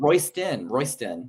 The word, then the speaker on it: Roysdon: It's not Roysdon. It's Roysdon. There's a difference. You're saying a T and it's a D.